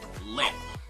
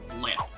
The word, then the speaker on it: lip: Leap, lip. It's pretty much the same story, a little bit more wider when you produce the sound, and a little bit more closed when you're pronouncing the other word.